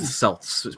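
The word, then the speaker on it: Celts: yeah same with the Kelts I think too yeah the selts actually it's selts pronounced like according according to one basketball team in one city in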